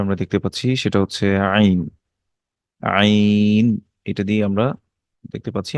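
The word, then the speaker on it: عين: আর এখানে আমরা দেখতে পাচ্ছি যে আইন, এটা কণ্ঠনালীর মাঝখান থেকে উচ্চারিত হয়।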